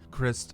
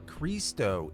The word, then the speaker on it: Krist: wife maria in 1963 christ's father also named chris which by the way christ is or christo is the proper way to say chris in croatian a lot of times